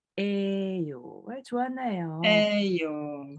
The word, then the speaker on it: 예요: Ouais, en fait, ça s'écrit 예요, mais ça se prononce 에요.